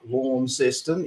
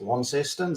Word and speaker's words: Launceston: say things down there, like Launceston, it's expressed Launceston, stuff like that.